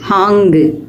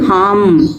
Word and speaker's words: हाँ: ஹாங்கு, மாங்கு அல்லது ஹாம், மாம் அப்படின்னு உச்சரிக்கிறோம். ஹா, கஹா, யஹா, வஹா அப்படின்னு சொல்லாமல் கஹாம், யஹாம், வஹாம் அல்லது கஹாங்கு, யஹாங்கு, வஹாங்கு அப்படியெல்லாம் நம்ம சொல்லிகிட்டு இருக்கிறோம்.